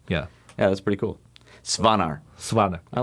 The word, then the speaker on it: Svanar: Okay, so it's how do you spell it? S-V-A-N-A-R.